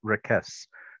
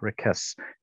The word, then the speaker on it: Raquez: his name something like requests with a soft uh s sibilant s on the end as opposed to the hard kind of uh buzzing z sound like lopez so we'll we'll try